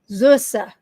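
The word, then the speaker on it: Süße: this word it's zus zusa is the first word I kept saying subber because it looks like a be even though I knew it wasn't a be it's German zusa Lis which is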